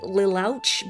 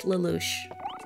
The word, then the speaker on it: Lelouch: And I also had no idea how to pronounce the protagonist's name until I heard it said out loud, because it looks like Lilouch, but it's Lelouch.